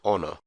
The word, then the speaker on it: honor: elsewhere H for hotel the letter H can also be pronounced silently as in honor I for India J